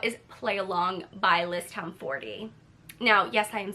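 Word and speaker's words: Tomforde: The next book I want to talk about is Play Along by Liz Town 40.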